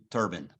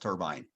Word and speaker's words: turbine: And notice the way I pronounce this word, steam turbine, not pronounced turbine.